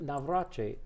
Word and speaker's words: Navratri: We're back, and we're going to go to India now, and we're going to talk about something called Diwali and Navratri.